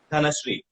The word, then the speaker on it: धनश्री: धनश्री.